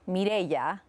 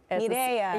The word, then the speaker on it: Mireya: So I get called all the time. I say because I think most people can get their heads around that, but my name is actually pronounced Mireya. Mireya. Yeah. Oh, you can do it. Thanks. I took Spanish in high school. It's a Spanish name, but it has that rolled R, so it throws people off.